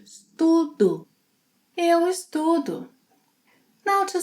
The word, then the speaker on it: estudo: Eu estudo, which sounds like estudo.